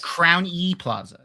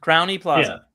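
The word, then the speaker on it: Crowne Plaza: It's pronounced Crowny E Plaza. Crowny Plaza.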